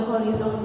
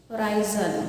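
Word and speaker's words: horizon: हॉरिजॉन, अब जो हॉरिजॉन देखते हो, होराइजन, that's better pronunciation, okay.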